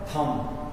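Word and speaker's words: thumb: थ क्या लिखा है थम थम टी एच यू एम बी थम इसको क्या पढ़ेंगे अब देखिए एम के बाद बी आ गया एम के बाद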